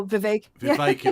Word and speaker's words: Vivek: that being VI oh vi vi rhymes with cake he totally coward in